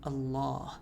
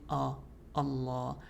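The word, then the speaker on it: الله: So when we say the name Allah, right? We're not saying Allah, we're saying all a starting off light then becomes heavy.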